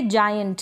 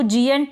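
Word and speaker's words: joint: आप इस तरीके से स्पेलिंग्स भी बना सकते हैं। और यह है जॉइंट। क्या है? जॉइंट। इसको जयंट ना पढ़ें।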